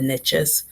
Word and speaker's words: niche: riches are in the niches. I guess niche would be an American pronunciation of that word, which is fine too. Both pronunciations work, whatever you prefer, niche or niche.